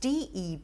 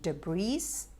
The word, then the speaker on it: debris: that's very commonly mispronounced d-e-b-r-i-s and many people confuse the s at the end and say de breeze it's actually debris that's